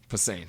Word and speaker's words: Posehn: Brian Posehn? Posehn, thank you.